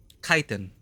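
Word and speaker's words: chitin: The upgraded version, however, Kitan, Chitan, Chiten, I keep forgetting how to pronounce that. Let me just check. Kitan.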